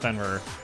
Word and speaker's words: Fenrir: It is pronounced Fenrir.